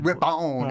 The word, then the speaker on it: Ripon: I go Ripon. Ripon, yeah.